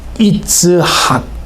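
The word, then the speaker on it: יצחק: 그 이삭이라는 그 말의 히브리어 그 발음은요. 찾아보니까 어떻게 되냐면 이츠학 이렇게 돼 있어요. 그러니까 우리는 이제 뭐 번역된 걸 읽으니까 원래 히브리어 원어의 그 이삭의 발음은요. 이츠학.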